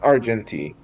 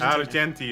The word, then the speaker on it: Argenti: we go AR the question is are we pronouncing it like Argentina or Argentina it's arti arti okay so it's like argen arti is correct like Argentina Argentina land of silver